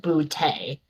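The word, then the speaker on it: Bigbooté: Therefore, it is pronounced it is in fact pronounced Boute.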